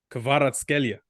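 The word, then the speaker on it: Kvaratskhelia: But so my Georgian friend said you have to say it as Kvicha Kvaratskelia. Yeah, something like that. Kvicha Kvaratskelia. He says something like that. Kvaratskelia. So you have to put a bit of a growl on it, like an Arabic growl on the surname.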